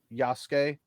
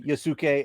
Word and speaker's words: Yasuke: do is they're going to try to reduce Yasuke or Yasuke, however you want to say it, to Yasuke a more is the correct pronunciation.